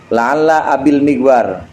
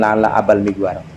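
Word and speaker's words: لعل أبي المغوار: La'alla abil migwar. Diucapkannya bukan la'alla abal migwar.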